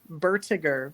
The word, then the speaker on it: Bertiger: And it's pronounced Bertiger, which you don't hear the O.